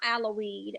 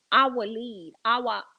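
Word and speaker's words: Al-Waleed: Well, I think I said his name wrong. Not Aloweed. I'm sorry. I think it was I think it was let me see if I can get this right. Al Walid.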